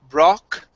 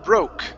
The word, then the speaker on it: broke: Instead of brock, bra, it's bro, broke, bro, broke. Broke.